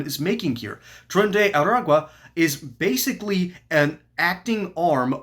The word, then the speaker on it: Aragua: members are part of Tren de Agua. Aragua. I've not been pronouncing that correctly.